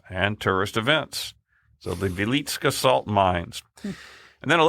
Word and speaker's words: Wieliczka: Near the town of, it's spelled Wieliczka, but it's pronounced Wieliczka in Poland, sits the Wieliczka salt mines, which have been worked continuously since the 13th century.